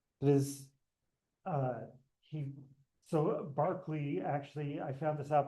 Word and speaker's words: Berkeley: So, George Barkley, as I'm sure I've mentioned before, it is it is pronounced Barkley even though it's called Berkeley, even though therefore the city I live in should be called Barkley, but all right.